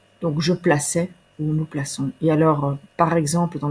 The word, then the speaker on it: plaçons: première personne plurielle nous plaçons on va mettre une CD en dessous du C pour garder la prononciation s si nous ne mettons pas la CDI on va devoir prononcer placon voilà la raison pour